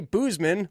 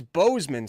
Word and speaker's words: Bozeman: If I hear you say Boozman one more time, I just did it. You did that to yourself there. I'm going to lose it. It's Bozeman.